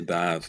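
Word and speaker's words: Badb: Now I may have mispronounced that because I'm never sure what way different people pronounce this one, but Bav or Bive. It's the the trio goddess from Maka and the Mar there. I say Bav myself.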